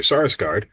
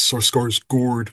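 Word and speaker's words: Skarsgård: How was it developing that relationship and working with Alexander Sarsgard? Uh I mispronouncing I've heard it's Sor Gourd but whatever. Uh Alexander uh to develop the relationship between your two characters.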